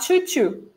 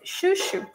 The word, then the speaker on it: chuchu: So, chuchu, not choo-choo. Don't forget this. It's chuchu.